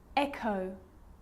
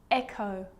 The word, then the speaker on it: echo: Now most of the time, CH is pronounced ch. But on small occasions or rare occasions, it's not pronounced, the H is silent. So it's choir, choir, echo, echo.